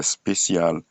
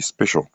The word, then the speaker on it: special: On ne dit pas spécial mais on dit special.